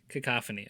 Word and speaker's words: cacophony: A How do you pronounce it again? Wait. Cacophony. Cacophony.